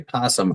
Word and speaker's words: opossum: No, I would say that an umom and a possum are two different animals. No, a um is not pronounced um is still pronounced possum. The o's silent.